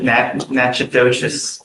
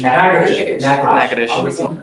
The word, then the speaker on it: Natchitoches: You are wanted out of, Louisiana, Natchitoches Parish. I butchered the pronunciation, but Natchitoches. Yes, What is it? Natchitoches.